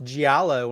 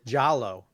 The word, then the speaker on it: giallo: Joy it's like when people pronounce giallo when it's jallow yeah one it's not all those syllables so yes so you